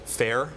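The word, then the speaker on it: Faire: backed a company called fair is fa ir e spelled with the French word and they raised the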